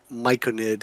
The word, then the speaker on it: myconid: And just And just just just for the record, myconid is how it's pronounced.